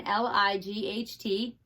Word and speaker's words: light: So let's look at this one, L-I-G-H-T. We know that I-G-H says I, so this word is light. So which letters are silent? Which ones don't you hear? G and H.